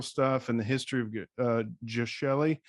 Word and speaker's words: Geshelli: Just soft G. Soft G. Geshelli Labs.